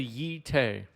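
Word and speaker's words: Jitte: There's the Yi-Te.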